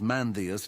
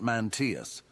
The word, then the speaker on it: Mandus: to be pedantic but it's mandus not Manus Ahah is the pronunciation